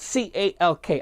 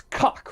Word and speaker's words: Calk: And that's spelled C-A-L-K. I believe it's Calk, right?